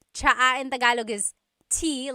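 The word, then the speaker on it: tsaa: that you drink, and it's spelled T-S-A-A. Chaa. Chaa. That's such a Tagalog spelling. I love it. There's the T-S sound and then the double vowel pronunciation.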